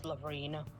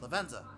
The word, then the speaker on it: Lavenza: It's Laverina. Or how you pronounce the name. Laverne, I believe it is. Oh, no. Lavenza.